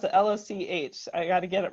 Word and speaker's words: Loch: Okay, and she's going to tell us now how do I pronounce it? Loch. I got to get it right. I've seen some pretty funny Loch. things. Loch.